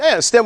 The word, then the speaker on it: STEHM: want people to say stem with an H yeah so we just pronounce stem or if you choose one of the other ones that you like feel free but we just decided that that seems to work the easiest for everybody so what